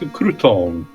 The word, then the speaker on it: Crouton: If it's rumors you're after, take a tip from a fellow detective and go ask Crouton. Is that Crot? How do you pronounce that name, dude?